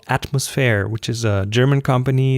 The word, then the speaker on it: Atmosfair: So I was really happy when I recently found that company called Atmosphere, which is a German company. It's spelled ATMOSFAIR, and they cater to individuals.